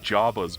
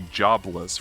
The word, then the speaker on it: Jobless: Jabba's reincarnation was today why do you always say it like Jabba's reincarnation what do you mean how is how you supposed to say it's supposed to be jobless reincarnation but he keeps saying Java's is in like Jaba